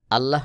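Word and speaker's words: الله: মতই সেম একই রকম আল্লাহ শব্দের আগের হরফের যখন জবর অথবা পেশ থাকবে তখন আল্লাহ শব্দের লামকে মোটা করে উচ্চারণ করতে হবে। যেমন এখানে আল্লাহু আল্লাহু।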